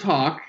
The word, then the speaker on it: Haack: It's pronounced Hawk, but yes.